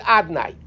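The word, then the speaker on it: אדני: But we don't pronounce it Yud Kei Vav Kei. It's written Yud Kei Vav Kei. How do we pronounce a bracha? Baruch Atah, with the word Adnai. Aleph, Daled, Nun, Yud. That's the way we pronounce it.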